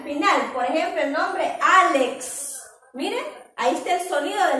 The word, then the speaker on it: Álex: pues el pre nombre álex miren a este sonido de la equis no tiene una vocal adelante pero se pronuncia completo su sonido aunque no tenga una